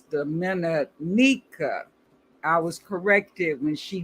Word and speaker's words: Dominica: I've been pronouncing it the Dominica, but it's Dominica.